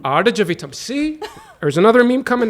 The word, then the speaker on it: Aadujeevitham: Did I say it right? No. I think it's slower. I think it's Okay. Aadujeevitham. Aadujeevitham.